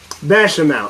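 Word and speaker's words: béchamel: Bechamel. Okay, there we go. I can't fucking pronounce French.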